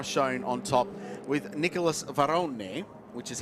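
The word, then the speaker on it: Varrone: Aston Martin now shown on top with Nicholas varonne which is how you have to pronounce it he told John kind off in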